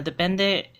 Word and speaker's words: depende: It's pronounced as depende, and it came as actually a borrowed word from Spanish that has a similar meaning in English, and it's just now used in Cebuano.